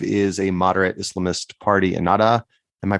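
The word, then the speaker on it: Ennahda: political party correctly pronounced it's the H in the middle yeah um so but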